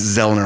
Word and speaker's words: Zoellner: azura as i call them of course we pronounce it zelda like those not there uh was actually a